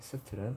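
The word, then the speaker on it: subtle: 그래서 어 18번 그다음에 서틀 되니다. 서틀은 어 미묘한이란 뜻으로 12번 되겠습니다. 근데요 서틀은 발음하실 때요 B는 어 발음하지 않습니다. 그래서 서버틀이 아니라 서틀 이렇게 B를 묵음시킨 채로 발음을 하시면 되겠습니다.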